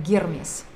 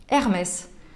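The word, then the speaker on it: Hermès: он читается как гермес если вы хотите быть пуристом и называть не бога торговли а говорить про люксовую французскую марку тогда нужно произносить его с буквой и через неё получается правильнее м.с. и ни в коем случае не с буквой h название марок тема до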